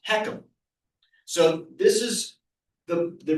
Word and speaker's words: HECM: This is the FHA insured reverse mortgage technically called a home equity conversion mortgage and that acronym HCM is pronounced heekum.